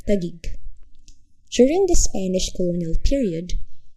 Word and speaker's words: Taguig: crossing the passig river they struggled with the pronunciation of tag gagik subsequently tagi IG was eventually shortened to its present form tag gig during the Spanish Colonial